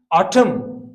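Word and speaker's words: autumn: तो एम एन जब ये दोनों एक साथ आते हैं, एन साइलेंट होता है, एम साउंड देता है। जैसे हम ऑटम कहते हैं, कॉलम कहते हैं, हम कॉलमन या ऑटमन नहीं बोलते हैं।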